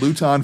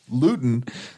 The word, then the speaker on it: Luton: the joke is not Luton free it is no longer a joke if you don't pronounce luten Luton because that rhymes with gluten and gluten-free is like